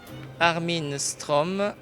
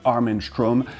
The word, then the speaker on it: Armin Strom: And the entire complexity of this brand's name pronunciation resides in this STR, which needs to slightly sound like sh, and also roll a little bit in your mouth.